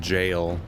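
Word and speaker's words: gaol: like no key and jail spell g-o-a-l noki was odin's fear life through jail was the weird arc archaic spelling of jail was from uh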